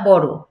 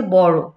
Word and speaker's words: বড়: বড়, যেমন এখানে আমরা বলবো না বড়, বড় কিন্তু না, জোর দিয়ে উচ্চারণ করতে হবে, যেটা হচ্ছে বড়।